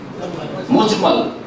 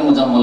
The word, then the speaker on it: মুজমাল: ঈমানে মুফাসসাল আর ঈমানে মুজমাল ভুল করে অনেক উচ্চারণ করে মুজাম্মল না একই রকম করে উচ্চারণ করে কিন্তু আসলে মুজাম্মল না মুজমাল কারণ এটা হচ্ছে বাফাল থেকে আজম ইজমাল থেকে ইজমাল থেকে মুজমাল